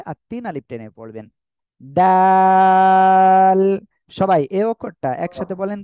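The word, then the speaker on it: دال: দাঁতের সামনের উপরের দুই দাঁতের গোড়ার সঙ্গে লাগিয়ে উচ্চারণ হবে আর তিন আলিফ টেনে পড়বেন দাল সবাই এই অক্ষরটা একসাথে বলেন তো মাশাআল্লাহ মাশাআল্লাহ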